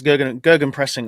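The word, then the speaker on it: Gegenpressing: It's Gergen pressing, I believe, is how to pronounce it correctly.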